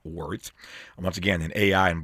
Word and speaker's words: WRTH: Travis Smiley, Justin Elliot, and Jerem Samuels, the Miami based tech founders who created Worth, spelled WRT, pronounced Words.